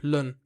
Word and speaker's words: ln: Why'd you pronounce lun like that? Because it's the natural log. LN, lun.